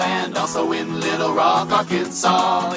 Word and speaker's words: Arkansas: also in little rock arkansas it ends with an ass but don't say it boy all